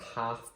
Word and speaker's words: half: And I've got half past, and there's a sneaky little L in there.